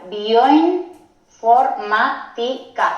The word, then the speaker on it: bioinformática: Aunque suene extraño, se pronuncia bioinformática, o sea que esta sílaba tan larga con esas tres vocales sería una sílaba sola y tendría un triptongo en ella.